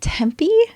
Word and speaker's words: Tempe: She rented office space in, is it Tempe?